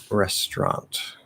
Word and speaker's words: restaurant: that um but anyway is it okay to say restaurant for a restaurant uh yeah in fact that's probably the most common way to pronounce it um fully it would be restaurant right so this is actually just like boisterous restaurant restaurant except here it's going to be restaurant restaurant definitely much more common way to say it